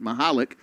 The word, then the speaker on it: Mahalik: just the spelling, but she says Mahalik, and I think she would know. So, Patty Constantine, we appreciate you. You've been great staying on top of the pronunciations for us. We're going to need you to investigate the family history and figure out when the V became a K sound, but Mahalik is the pronunciation we're being given.